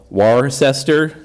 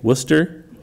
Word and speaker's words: Worcester: in the UK that an average ignorant American from the Southwest would call Worcester, but someone who looked up it on the internet and knows how to pronounce it now would say Worcester.